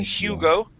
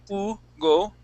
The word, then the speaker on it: Hugo: Spanish okay yeah so in Spanish we would not pronounce that H okay we wouldn't say Hugo okay we would say Ugo okay now um an